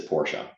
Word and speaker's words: Porsche: some time with him the correct pronunciation is Porsche coming out of his mouth so so that's what